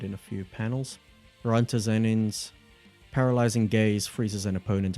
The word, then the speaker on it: Zenin: Now we move on to the Zenin Clan. Or the Zenin Clan. Zenin or Zenin? I'm gonna say Zenin. Zenin.